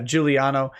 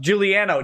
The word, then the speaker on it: Giuliano: fully trashed now giuliano says my last name is pronounced juliano damn it i did